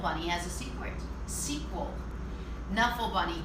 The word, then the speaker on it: Knuffle Bunny: a smaller persons was nuffle bunny you guys remember nuffle bunny so before you tell me that it's pronounced Knuffle Bunny we'll get to that part later so nuffle bunny so